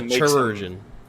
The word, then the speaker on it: chirurgeon: The chirurgeon? The chirurgeon. However you pronounce that. It's like surgeon, but it's a chirurgeon.